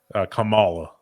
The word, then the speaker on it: Kamala: How the fuck do you pronounce this bitch's name? Kamala.